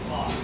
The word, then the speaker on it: Bos: Boss. Wes Boss.